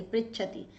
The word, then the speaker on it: पृच्छति: पर, ऐसे होना चाहिए, पृच्छति, धातु प्रच्छ होती है, लेकिन जब वाक्य बनता है तो प्री हो जाता, पृच्छति।